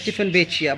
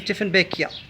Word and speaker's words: Dieffenbachia: This plant is called the Dieffenbachia, sometimes incorrectly pronounced as Dieffenbachia, but the real pronunciation is Dieffenbachia.